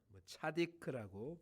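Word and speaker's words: צדיק: 의로움이라고 번역된 히브리어는 차디크라고 발음이 되어지는 단어입니다.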